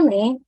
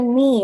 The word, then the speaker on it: 네: Tulisannya ne, tapi bacanya ni ya teman-teman. Jadi next time kalau teman-teman lihat kata ini di kepemilikan ya, maka bacanya nih.